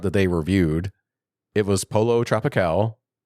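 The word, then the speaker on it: Pollo Tropical: It was Polo Tropical. Am I saying that right? Pollo. Because they also mispronounced it.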